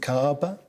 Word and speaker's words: Kaaba: I don't know how to pronounce it. Is it Kaaba? The Kaaba is correct, yes.